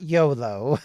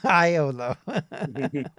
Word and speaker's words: Iolo: Not YOLO. Iolo.